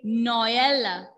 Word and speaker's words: Noël: So keep in mind, when you see laxo trema, that means you have to pronounce those two vowel letters separately.